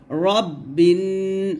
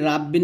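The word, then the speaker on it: ربِّ: গুন্না হবে ওয়াজিব গুন্না রব্বিন আমরা বলি রাব্বিন বলি তো এখানে দেখুন লেখা আছে রব্বিন র তো আপনারা রাব্বিন বলবেন না কুল আউজুবি রাব্বিন নুন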